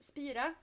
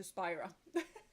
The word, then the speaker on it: Spira: So that is kind of why she's called Spira. But only I can pronounce Spira, so it kind of turned into Spyra.